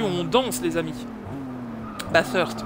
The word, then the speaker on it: Bathurst: Bathurst pour le prononcer comme il faut. Bathurst voilà avec le the Bathurst.